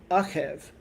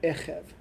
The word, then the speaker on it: Eqev: It's spelled the same, Ein Kuf Vet, but different vowel point for under the Ein there. Achev, not Echev.